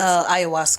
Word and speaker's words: ayahuasca: I want to say ashwagandha. But it's ayahuasca. Ayahuasca. I always say it wrong.